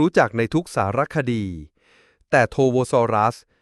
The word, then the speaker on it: Torvosaurus: เลย แม้ แต่ น้อย โทโวซอรัส อ่าน ว่า โทโวซอรัส มี ความ หมาย ว่า